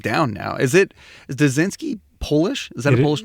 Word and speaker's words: Duszynski: I've got it down now is it is des zinski polish is that a Polish name it is Polish yes yeah the correct pronunciation is and sometimes people will say that and I